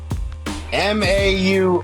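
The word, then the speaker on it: Maurer: Mau rhymes with power and there's an extra because just made that up.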